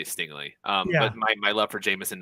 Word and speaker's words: Stingley: If somehow like teams were scared off and okay, I always do the worst with pronouncing names. Is it Stingley or it's Stingley, right? Yeah. Stingley.